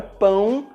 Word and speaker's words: pão: Com o acento circunflexo e com o til, a letra A fica com um som nasal, como por exemplo nas palavras lâmpada e avião. É muito importante você pronunciar corretamente esse som, porque você pode trocar a palavra pão pela palavra pau e as pessoas não vão entender o que você está querendo dizer.